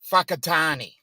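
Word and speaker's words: Whakatāne: k i t n e and it is pronounced whakatani so when you're watching the that's what I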